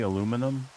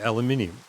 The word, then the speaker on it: aluminium: Isn't that how you guys say aluminum? No, we say it the right way. Aluminium.